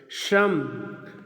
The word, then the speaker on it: शम: है सम मतलब श्रम स शलजम वाला स शरीफा वाला स स और दांत वाला स और तालू वाला श दोनों में अंतर होता है आप उच्चारण में भी अंतर किया करें और लेखन में भी अंतर सहने का प्रयास करें शम शम का मतलब